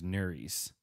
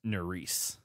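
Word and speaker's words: Nurys: think that Nelson's partner I thought her name was nuri's because that's how it's spelled but it's Norris and that makes more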